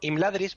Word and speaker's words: Imladris: En castellano, imladris, por ejemplo, Ujú. las sílabas normalmente se cortarían im, la, dris. Pero en élfico no. En élfico se cortan im, lad, ris. O Uf. les, sar. Vale. Entonces, en este caso, cuenta como que la segunda sílaba es fuerte. Vale, o sea que sería Ladris.